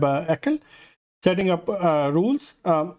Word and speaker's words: ACL: we supports will uh configure web ACL or how it is typically pronounced configuring web eel setting up uh rules